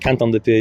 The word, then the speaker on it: Quentin Dupieux: full day with this film, is Dali by Quentin Dupieux. Is that how you say it? Quentin Dupieux, yeah.